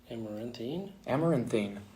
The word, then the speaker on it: Amaranthine: Amaranthine.